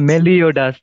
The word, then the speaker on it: Meliodas: If I pronounce it wrong, I'm so sorry. But I think it's Melidash. Is Yeah, it? Meliodas.